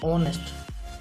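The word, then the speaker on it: honest: कौन second example आमर ना ऑनेस्ट ये आमर एच टा साइलेंट हो गला एवं उच्चारण कौन आस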